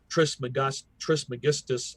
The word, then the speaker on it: Trismegistus: Trismegistus, I think is how you pronounce it, who is very prevalent.